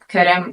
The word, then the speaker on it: Qırım: or Spanish or Italian so if you can hear the difference between cry crime and cream you know you can pronounce Kum um in 21st century